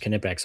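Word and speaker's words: Knipex: But they've got a that's it's another Kipex is another and it is pronounced Kipex apparently.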